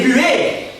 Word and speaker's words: Buet: Et Buet, alors ça s'écrit B-U-E-T, ok? Donc rien à voir avec la buée que t'as sur tes carreaux le matin, hein?